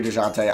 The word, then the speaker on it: Dejounte: Well, I'm just going to call him, it's either Dejounte or DeJounte. I'm going to call him Dejounte Murray. I'm going to say the J is silent.